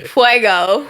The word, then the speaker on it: fuego: point and yeah Fuego you're supposed to say fuego fuego fuego that's how you said well I